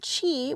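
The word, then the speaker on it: qi: a little primer there but chi which is spelled q i is like the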